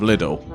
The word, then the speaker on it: Lidl: the well-known high street store that rhymes with Riddle. Right, okay. And it was the air ambulance, but twice I saw them, and they were stood in the entrance bit of Lidl.